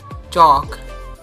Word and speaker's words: chalk: precious delicious religious the word that is a l k that means silent hair like talk wonk chalk and stock so repeat